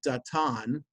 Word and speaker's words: Dathan: and um reminded of da tan which i guess in english would be pronounced dathan i uh think of